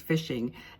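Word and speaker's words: phishing: h i n g it's pronounced fishing and scams are in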